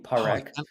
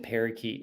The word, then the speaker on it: Parekh: your last name yeah par is my name par I kind of got it right okay although my seventh grade PE teacher always said parakeet no matter what so